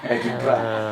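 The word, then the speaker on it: Edinburgh: ya katanya gaya banget Eden bacanya Eden Bra bukan Ed bukan Edinbra ini kamera gua yang gini Iya.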